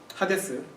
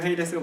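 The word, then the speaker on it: ᾅδης: 야고보서 한 번 그다음에네 하데스 우리 문수현 님은 헤이데 아고 발음 하셨는데 영어식으로 헤이스가 맞겠죠 하지만 이건 그리스 하기 때문에 하데스라고 발음하는게 맞습니다 자 하데스는 열 번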